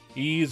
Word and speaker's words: Ys: Ease or wise, I never know. I I always forget how you're supposed to pronounce that.